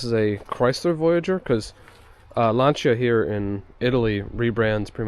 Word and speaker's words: Lancia: videos with the Lancia, I pronounce it Lancia, which still works better with my American pronunciation in my opinion, but someone did correct me on the pronunciation, so I'm going to try to be good about saying it correctly.